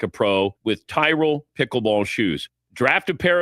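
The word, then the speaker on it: Tyrol: Tyrell pickle ball shoes make the only shoe that's truly built for the sport. It's spelled T Y R O L.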